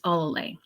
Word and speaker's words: Olalea: Well, for the most part, it's Olalea. I have one judge who knows how to pronounce my last name so well. Olalea. She's the American way, but she, African names, you have to break it down with every consonant, like O-L-A-L-E.